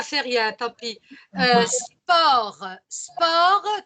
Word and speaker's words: sport: Sport, tu ne dois pas prononcer le T final. Attention. Hein. Sport, la consonne finale ne se prononce pas.